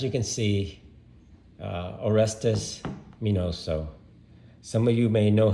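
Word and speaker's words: Miñoso: on the end so his real name is minoso or estes minoso and to tell you a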